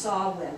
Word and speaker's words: Samhain: But this is pronounced Samhain.